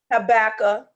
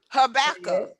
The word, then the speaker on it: Habakkuk: Habakkuk. You hear people say cast the vision, make it plain. What do you think? What book that's coming from? Cast the vision, make it plain. That's Old Testament. Habakkuk.